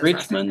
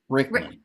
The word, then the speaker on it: Rickman: in Alan um I always say his last name wrong is it rich rich how do I say Richmond I think rich rich um anyway Rickman no no there's a stage there but um